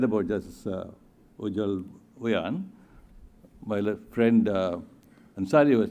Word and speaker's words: Ujjal: And I think I'll do it in due course, but I suppose that Ujjal is the correct way of pronouncing it.